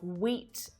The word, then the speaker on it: wheat: But that rule is broken completely by words like wheat and whip, where it's actually the H that's silent. But a silent W pops